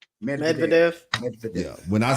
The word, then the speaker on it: Medvedev: Let's listen to this exchange from Trump, and how do you pronounce his name? Medvedev.